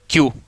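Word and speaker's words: queue: अब देखिए अगली बात, अगली बात देखिए, जैसे इसको क्यू, यह बहुत ध्यान दें, क्यू देखिए, तो देखिए इसमें कोई दिक्कत नहीं। अब आप स्पेलिंग देखो, QUEU, यानी पंक्ति या लाइन जो भी इसको बोलते हैं।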